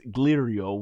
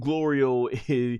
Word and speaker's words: Glorio: So Son Goku comes flying back and he's like, "Thanks, Girio." Which he's been constantly mispronouncing Glorio's name through this whole time. And Glorio once again as he's done the entire of the series. It's Glorio and he even smiles